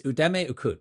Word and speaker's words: Udeme Ukutt: It's Udemy Ukut, right? Is that the right pronunciation?